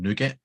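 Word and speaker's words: NuGet: n-u-pkg is new package because it comes from nougat Gary yeah I thought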